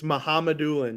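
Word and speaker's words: Mukhamadullin: The Sharks received Shakir Mohammedullin. Ooh, that's one of the first pronunciations I've ever heard. Mohammedullin, I think. You're so close. It's Mohammedullin.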